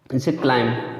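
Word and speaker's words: climb: तो आगे देखते हैं, बी से पहले यम आए दोस्तों तब भी बी साइलेंट रहेगा। जैसे क्लाइम, ठीक है, बी से पहले यम आए या यम के बाद भी आए, बात है क्यों।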